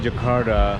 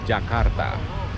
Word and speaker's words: Jakarta: So throughout this uh video I'll be saying Jakarta which is the western way of pronunciating you know the capital city of Indonesia. The correct way of you know saying it is Jakarta.